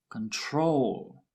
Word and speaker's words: control: With control, the stress is on the last syllable, control.